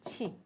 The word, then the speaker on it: q: 치. 그래서 중국어로 치로 읽어 주세요.